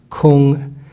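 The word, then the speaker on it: 空: So if you look on the right side, there's work, pronounced gung, and the word empty, pronounced kung.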